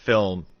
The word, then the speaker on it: Philm: But the old drummer from Slayer, he's in, it's a band called Film. It's spelled in all capital letters Philm, and it's like sort